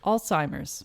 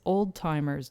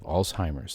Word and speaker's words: Alzheimer's: that's true yeah um alzheimer's alzheimer's so a is a horrible disease but it's a disease that is also horribly mispronounced at times as old-timers disease what yes what do